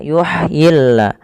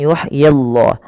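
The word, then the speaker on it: يُحْيِ اللَّهُ: Kemudian lafal Allah bila didahului dengan huruf kasrah maka tidak boleh ditebalkan. Nah di sini kita namakan dengan lamut tarqi lam yang tipis. Maka yuhyilla bukan yuhyillah tapi yuhyillahul mauta.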